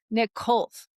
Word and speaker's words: Nikolov: Nicholas Nick Khouf. I think I pronounced your name right, right?